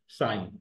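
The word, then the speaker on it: سائين: Most respected most venerated, साइन इस तरह से प्रोनाउंस किया जाएगा, साइन, अंडरस्टैंड।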